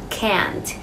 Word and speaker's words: can't: ở bên này này, họ sẽ thường nuốt cái chữ T vào bên trong, khiến cho các bạn không nghe ra được chữ T và thường bị nhầm lẫn giữa từ can't và từ can.